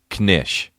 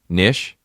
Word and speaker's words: knish: here's here's another one knish nish you just pronounced the K knish what is it